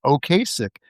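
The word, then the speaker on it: Ocasek: or second press release, he phonetically spells it out as oasick. But I don't know. I think it's Okassic.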